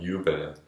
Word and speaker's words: jubeln: Okay, so J is pronounced like a Y, which is similar to Spanish and not to English, so I gotta keep that in mind. Jubeln.